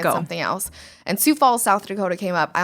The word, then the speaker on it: Sioux Falls: home thing else and Sioux Falls South Dakota came up I honestly didn't even know how to pronounce Sioux Falls at the time sigh ox Falls no I had no idea so I'm kind of